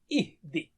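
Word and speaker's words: اهدِ: Uhdi. Silent ha, uhdi. And because Arabic words do not start with silent letters, so we put a temporary hamza there, ihdi.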